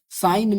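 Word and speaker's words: sign: साइन में सा इन आई साइलेंट होगा। साइन है ना? सा इन जी साइलेंट है सॉरी साइन में जी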